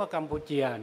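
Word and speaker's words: កម្ពុជា: นี้ มา ใน กัมพูชา แต่ เขา ออก เสียง ว่า กัมปูเจีย นะ กัมปูเจีย สระ อาเนี่ย เป็น ถ้า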